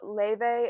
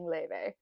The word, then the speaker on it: Laufey: Also, Laufey is the Americanized pronunciation of her name. The Icelandic pronunciation of her name is very hard for Americans to say, so that's why I'm saying Laufey.